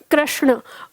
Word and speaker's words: कृष्ण: अक्सर आपने देखा होगा लोग कृष्ण बोलते हैं। जबकि यह होता है शुद्ध उच्चारण कृष्ण। ण इसमें लगा हुआ होता है।